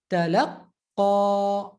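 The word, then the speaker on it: تلقى: Talaqqa, talaqqa. Again, laqqa. So instead of laqa, laqqa, I'm just holding and stressing the qaf a bit before I let it go. Okay, that's talaqqa.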